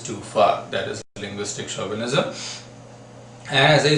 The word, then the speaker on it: chauvinism: this is pronounced as chauvinism not chauvinism the reason is this is the word of French origin so chauvinism actually was